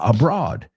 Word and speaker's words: abroad: Ojo con la pronunciación. Otra de estas que he oído mil veces, abroad, ¿no? Abroad, awesome. Ese sonido vocal. Abroad. Dilo conmigo, en voz alta, abroad.